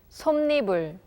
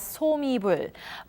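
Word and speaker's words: 솜이불: some neighbor some neighbor according to what we have learned so far this word should be pronounced as saw me bruh but something in pronounced it as some neighbor now something new why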